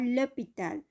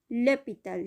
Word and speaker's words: l'hôpital: je vais à l'hôpital, এটা ল ব্যবহার হয়েছে কারণ এই হপিটাল এটা সাইলেন্ট হেচ দ্বারা শব্দটা শুরু হয়েছে, যার কারণে এখানে l'hôpital, je vais à l'hôpital, I am going to the hospital, আমি হাসপাতালে যাচ্ছি।